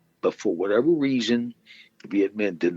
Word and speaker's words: Viet Minh: Now, the word is Viet Minh. I'll spell it Vietminh.